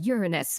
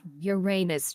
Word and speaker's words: Uranus: It's pronounced Uranus, not Uranus, you childling.